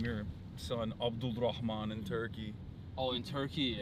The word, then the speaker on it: Abdul Rahman: Technically, you don't pronounce the L in Arabic either. Yeah, Abdul Rahman.